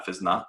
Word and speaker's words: Physna: or look at physnot it's spelled p h y s n a um so like physical dna without the d basically uh fizna um then you if